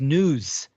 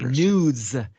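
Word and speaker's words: nous: o u s but it's it's pronunciate as news almost sounds like news right y or what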